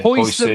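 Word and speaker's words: Huijsen: I absolutely love, Dean Hussein. I'm never sure how to say his name. Hussein, is it? Hussein? I think so. Spanish kid, yeah. Hoyson, that's it, is it? Hoyson, yeah. Dean Hoyson, young kid, absolutely phenomenal.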